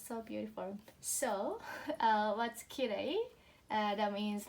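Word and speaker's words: きれい: And so how we pronounce ki re I, yeah, kirei, kirei.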